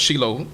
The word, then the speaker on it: Shiloh: reading judges it mentioned shallow was she low as it's pronounced Saddam Hebrew that when